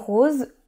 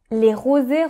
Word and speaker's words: roses: Emily wants to buy pink roses there. She does not know how to express herself in French very well so she says rosés rosés. She is wrong in the pronunciation. In French, we say roses, so that is the type of flower.